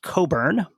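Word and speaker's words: Cockburn: Francis and I think his name is supposed to be pronounced Coburn is how this is traditionally pronounced determined that the men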